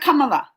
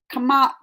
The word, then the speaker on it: Kamala: It's not Kamala. It's Kamala. Kamala. Oh, y'all are get. You can pronounce her name as Kamala.